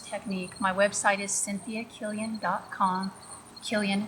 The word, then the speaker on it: Killion: Killian spelled like million, but with the K.